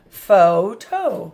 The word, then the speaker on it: photo: So you have 2 syllables there. Fo, that's 1 syllable. And it has long O sound, and this has long O sound. Photo.